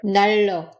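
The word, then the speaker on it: 난로: And this word heater isn't pronounced 날로, but rather 날로.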